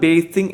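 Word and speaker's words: bathing: ബാത്തിങ് എന്ന് പറഞ്ഞാൽ കുളിക്കുക, പക്ഷേ ഇവിടെ കറക്റ്റ് ഉച്ചാരണം ബേസിങ് എന്ന് ഉച്ചരിക്കുന്നതാണ് കേട്ടോ. ഐ ലൈക്ഡ് ബേസിങ് എന്ന് ഉച്ചരിക്കുന്നതാണ് ഏറ്റവും നല്ലത്. സോ അങ്ങനെ പ്രൊനൗൺസ് ചെയ്യണം.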